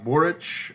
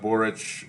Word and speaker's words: Boric: Chile, Boric, I believe is how you pronounce it.